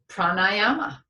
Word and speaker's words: pranayama: And the last thing I want to say is the Sanskrit word for breath practice is pranayama.